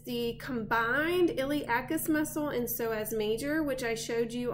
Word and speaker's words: psoas: Psoas major, remember, is spelled with a silent P, S-O-A-S. So the iliosus does have a silent P in it, I-L-I-O-P-S-O-A-S. From the iliosus, you next can find your femoral nerve.